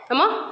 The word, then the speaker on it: character: have learned about H H is silent after the letter c and after the letter W okay like the words character very good character a